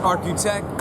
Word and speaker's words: RQTEK: spelled rqt e k it's not spelled like Arch it's architech um kind of has